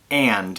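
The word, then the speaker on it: Aend: The 2 factories that make all these wheels are Labita and And. It's A-E-N-D, pronounced and.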